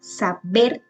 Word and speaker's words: saber: Saber también lleva el acento en la última sílaba.